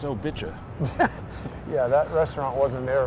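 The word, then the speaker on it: Obicà: Obika? No, I think this is Hillary Clinton's. do you mean? It's pronounced Obicha.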